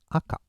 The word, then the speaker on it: 赤: stop it okay uh Chinese style is SEI or shaku shaku is very rare usage and uh in Japanese it's AKA AKA means red and for adjective we use Akai okay yeah so that's